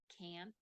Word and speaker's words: can't: one thing at least in American English is that many times we don't pronounce the letter T very strongly okay so it's very possible that instead of the word can't the very strong T